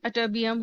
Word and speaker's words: Ytterbium: अब सबसे पहले तो हम देखेंगे कि अटोबियम विच इज YTTERBIUM, इसका जो है प्रोनाउंसिएशन अटोबियम होगा.